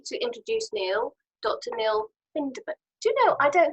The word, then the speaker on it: Bindemann: It's Bindemann.